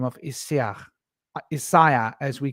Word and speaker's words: Isaiah: Old Testament which is Isaiah we call him Isaiah which is actually pronounced isia and isia was um predicted in the old